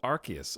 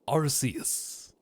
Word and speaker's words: Arceus: Chat, can you give me a compelling reason why it would be pronounced Arceus when everyone knows Arce is pronounced A-R-S-E? Okay, this is A-R-C-E, which is totally different. It's not like farce at all. It's like arc.